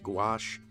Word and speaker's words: gouache: in watercolor and uh go otherwise pronounced gouache lighting for story and